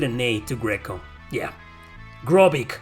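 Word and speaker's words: Grobyc: a to greco yeah gropic gropik you know it's a cyborg pronounced backwards gropic this guy is one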